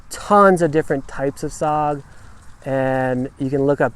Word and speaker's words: saag: There's tons of different types of sog, and you can look up tons of recipes, but it is a fantastic way to use your greens.